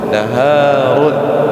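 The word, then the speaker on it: نَهَارٌ: ya kalau ditulis tafadal naharun siap ah kalau sungai itu hnya pendek ya kan kalau tadi siang itu naharun tapi kalau sungai nahrun Hnya sukun nahrun seperti itu. Nahrun.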